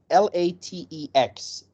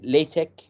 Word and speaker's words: LaTeX: what is latic first of all latic is l a t e x and how we pronounce it we say lch sometimes we just call it in one in one sound like latch but we will never say latex so this